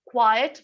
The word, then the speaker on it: quiet: But ये दूसरा वाला जो quiet है, quiet बोलते हैं इसको, quiet, right? I'm opening my mouth more. And last का pronunciation it नहीं है, et है. Quiet and quiet.